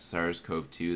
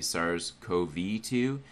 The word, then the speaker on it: SARS-CoV-2: videos i've been seeing when people pronounce sars cove too they say sars ko v2 and maybe i'm a little autistic or something but i just hate when they say the co-v rather than cove anyway it's just an